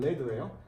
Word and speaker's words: lead: 발음은 lead예요.